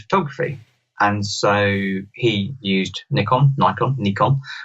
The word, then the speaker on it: Nikon: Nichkhun well so so English people say Nick on OK Americans say Nikon the actual correct pronunciation is Nikon okay so that apparently